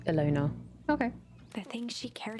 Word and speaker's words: Ilona: Oh, so it's just pronounced the way it looks. Ilona.